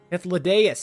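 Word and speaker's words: Hythlodaeus: Thanks, Hitholodius, if that's how you say it. For you, maybe. I want nothing to do with it. Oh, don't be that way. Hitholodius, that's how you say it.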